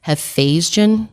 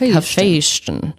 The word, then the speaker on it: Hephaestion: I think it's Hephaestion, like Sebastian, but like Hephaestion.